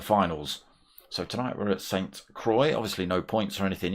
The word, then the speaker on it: Sainte-Croix: So we start tonight with Sainte-Croix B, or Sainte-Croix, I think it's pronounced, B.